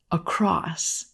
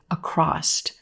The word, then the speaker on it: across: very common word but sometimes you will hear native speakers say a crossed a crossed adding a T sound at the end of this word no you don't need a t here this word ends in s across a